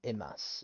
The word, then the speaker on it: います: Wa mizu, and then it shortens, and then ononde imasu. And that's when you see a mass, thank you, or it's the polite thank you. It's you don't pronounce the U's at the end, imas.